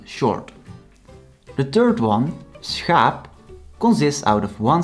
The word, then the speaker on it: schaap: The third one, schaap, consists out of one syllable and is written with a long vowel, so it has to be pronounced the long way.